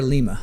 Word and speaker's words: Lima: I think is it Lima? I think we pronounce it Lima.